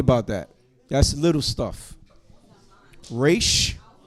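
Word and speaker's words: ר: Resh is the R sound. Resh. And we roll your resh.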